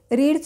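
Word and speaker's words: read: shut shut shut पण आर इय डी रीड प्रोन्सिएशन रेड रेड spelling सेमच राहतं आणि बी आय डी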